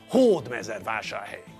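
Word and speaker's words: Hódmezővásárhely: And because it's a Hungarian word, we know how to pronounce it with the stress in the correct place, on the first syllable. Hord mezu vashar hey.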